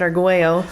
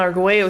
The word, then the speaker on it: Arguello: sorry well oh yeah you technically pronounce it argüello but if you told city you said I live on Arguello Street they'd be like what is that where's that and you go